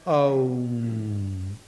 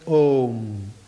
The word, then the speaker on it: om: see in a, u, when you put together and say that aum, the a and u can easily be o. So it's om.